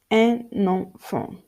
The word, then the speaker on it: un enfant: Next, link N in the nasal N when the next words start with a vowel or a silent H. For instance, un enfant, un enfant, un enfant, un enfant.